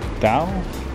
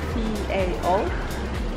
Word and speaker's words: Tao: You said it was Dao? Dao. Dao. Okay. We spell it as T-A-O.